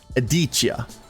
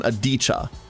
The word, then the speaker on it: Adichia: The stress is on the first eye. Adichia. And if so, the second I should not be really pronounced, more of an adicha.